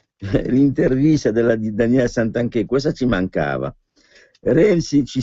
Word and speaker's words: Santanchè: l'italico di renzi cana santanchè con l'accento sulla e poi vediamo zingales premier